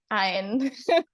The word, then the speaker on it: Aine: Ein, like wine, but without the W. Ein.